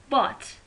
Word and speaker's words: bought: Okay, for example, look here, but, gh, we don't pronounce gh, it is silent.